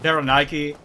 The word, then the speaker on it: Berenike: is a Berenike knight, or a Berenike, or, you know, people pronounce it different ways. I call it Berenike because it is...